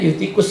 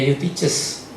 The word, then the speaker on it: Eutyches: Awas ya, jangan salah ngomong, bukan tikus ya. Bacanya Eutikus, sebutnya Eutyches ya.